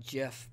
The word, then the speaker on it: GIF: gif just because I know the Creator wants it to be called Jeff but I feel like gif gif is part of the word gift and beyond that I've already been trained that jiff is spelled ji f thanks to a certain peanut butter so I just I refused to change 31 considered an old